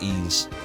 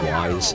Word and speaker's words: Ys: game before recently that it's pronounced ease always called it wise is that terrible